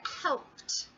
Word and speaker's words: helped: So the word helped, which ends with the t. The important part of the word here is the p plus the t. Pt. So you have to practice.